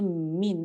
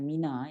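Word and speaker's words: مِن: Dia sebenarnya min tau, bukan mina. Tak ada kalimat mina. Dia min as-sama'i kalau ikut ejaan. Tapi Rasulullah ajar kita baca bukan min as-sama'. Minas sama. Tapi yang sebenarnya tidak ada kalimat mina. Yang ada ialah kalimat min.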